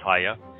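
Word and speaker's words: היה: Haya has two hays in it. Begins with a hay, ends with a hay. It's Haya.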